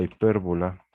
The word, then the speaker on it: hipérbola: encontrar los vértices de la hipérbola lleva acento en la E, de la hipérbola x por y igual a, ¿qué era bueno?